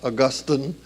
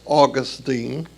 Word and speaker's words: Augustine: That's the correct pronunciation of the word, not Augustine. It's Augustine.